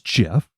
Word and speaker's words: Gef: out of the air I'd like to be known as Jeff and I'm going to tell you how to spell it it's GF by the way don't get that wrong because you tried to